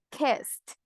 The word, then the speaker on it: kissed: ¿Cómo voy a pronunciarlo? Kissed. Porque hay un sound at the end.